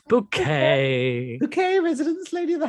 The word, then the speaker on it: Bouquet: bouquet no one whose last name can be pronounced in different ways hyacinth buckets it's bouquet okay residents lady of the house speaking uh